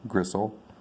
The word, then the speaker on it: gristle: there's no tea there it's not gristle which is silent tea gristle which would be hard